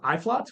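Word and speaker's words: Uitvlugt: It's pronounced Iflot, which we enunciate on the back of the label there for you.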